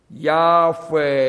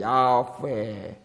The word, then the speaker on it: 야훼: 이 보면은 하나님을 칭하려고 쓴 그 단어가 자음 4개인데 우리가 그 자음만 억지로 읽으면은 야훼 이렇게 돼요. 야훼.